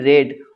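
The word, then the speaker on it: read: মনে রাখবেন main verb যদি রিড হয় তাহলে পাস্ট পার্টিসিপল ফর্ম হচ্ছে রেড। উচ্চারণ হবে রেড। কিন্তু আপনার স্পেলিং একই থাকবে।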